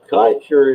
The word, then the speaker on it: Kaiser: Kaiser is how you pronounce that name, and it's a German name.